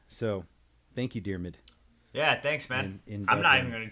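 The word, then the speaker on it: Diarmuid: AR mu i D it's a gaelic name pronounced dear mid so thank you dear mid yeah thanks man I'm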